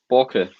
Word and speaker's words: Borke: Is it Bork or is it Borke? Is everyone Scots murdering the pronunciation of your surname, or are we getting it right? Borke. In Danish it's Borke, but you can call me Borke if you want. It sounds better, I think.